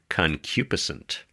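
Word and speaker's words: concupiscent: Let me just interrupt to say I looked it up and it's pronounced concupisent.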